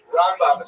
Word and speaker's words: Rambam: Rambam is pronounced with the emphasis on the first syllable ra and raan is pronounced within the second syllable raba and ramban.